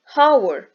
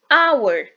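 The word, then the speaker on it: hour: H ile başlamasına rağmen başındaki Hey telaffuz etmeden okuduğumuz için sesli harfle başlamış gibi kabul ediliyor Çünkü hower olarak değil avır olarak okuruz Bu yüzden e ile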